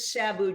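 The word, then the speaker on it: SABEW: General Excellence now Karen is that Sabu or is it s-a-b-e-w you got me I have no idea we pronounced it Sabu just because it's quicker okay well while the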